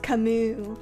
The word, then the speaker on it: Camus: Obviously, I know it's Camus. But I am not Sisyphus, okay? I've neither escaped death. Well, actually, yes, I have. I am no tyrant! Well, actually, I may be. It's pronounced Camus.